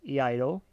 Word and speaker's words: Iaido: So, if you don't know what Io is, it's spelled I A D O Eido.